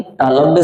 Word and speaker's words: तालव्य: तो इसको हम लोग तालाबी से नहीं तालव्य से पढ़ेंगे, इसको मूर्धन्य से, इसको दंत्य से पढ़ेंगे।